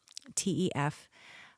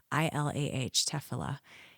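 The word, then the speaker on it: תפילה: I'm not even sure I'll say it right, but it's Tefilah, Tefilah.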